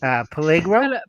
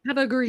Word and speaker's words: Pellegrino: Pellegro? Pellegrino. Yeah, Pellegrino. Yeah. Yeah, say that. You say it better. Pellegrino. You gotta There say it like an Italian.